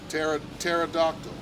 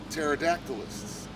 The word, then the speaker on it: pterodactyl: the t word okay pterodactyl which is spelled with a p but they're going after